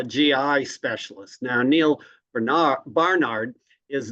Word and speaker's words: Barnard: I don't know Scott what is it Bernard or Barnard it's Barnard b a r n there we go it is Barnard I I I Concur